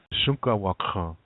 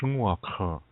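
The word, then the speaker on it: šúŋkawakȟaŋ: I said usually when people say the word for horse, it's Shunkawakhan. Some people shorten that and say Shunwakhan. They'll say it like that.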